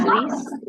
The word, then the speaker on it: Lies: of myself uh so my last name looks like lies yes it does it's a fun thing to have in our field uh but it's pronounced lease right yeah God's sense